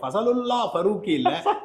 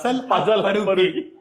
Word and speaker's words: Fazalhaq Farooqui: First, lets look at their options And it is not Fazalullaah Farooqui, but Fazalhaq Farooqui (PDogg gets his revenge... Revenge is a dish best served in Roorkee) I mispronounced it even now...